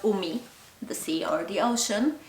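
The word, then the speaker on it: 海: Here when it's just by itself, it's pronounced umi, the sea or the ocean, and it has a radical.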